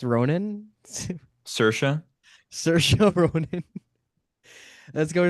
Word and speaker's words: Saoirse: I don't know how to pronounce her name, so forgive me. I want to go. Say wires Ronan. Saoirse.